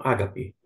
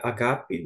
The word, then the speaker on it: agape: Eles falam ágape, mas a pronúncia é agape, vem do verbo agapau.